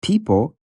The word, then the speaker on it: PYPL: know what pypl is so pypl pronounced people is a non-bank digital